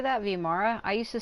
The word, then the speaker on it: Vimara: vimara like vimara she's she's separating the the vi from the M like V Mara I I used to say vimora but I guess maybe I've been saying it wrong just be sure